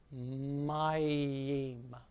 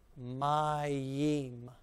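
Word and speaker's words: מים: So we'll read that. We'll read the mem, the yud, the e, and the mem. Okay? Mayim. Mayim.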